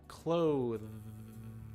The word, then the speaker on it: cloth: a strong th sound the slight difference is that clothe this you can feel right here your vocal cord your vocal cords are vibrating which means that it is a voiced sound clothes and when we say cloth there is no vibration which means it is unvoiced so clothes and cloth